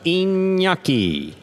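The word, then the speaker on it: Iñaki: Serving in the red shirt of post one, inyaki.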